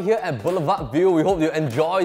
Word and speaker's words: Boulevard: how to french origin in French it is said as Boulevard hence the Deep being silent even in English in